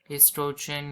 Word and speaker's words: oestrogen: है प्रोजेस्ट्रोन है ना एस्ट्रोजन या वो भी लिख सकते हैं मगर वो साइलेंट हो जाता है एस्ट्रोजन और प्रोजेस्टेरोन